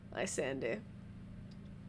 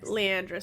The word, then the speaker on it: Leandris: and quietly weeping little Lysander. I said his name wrong then. Leandris, thank you.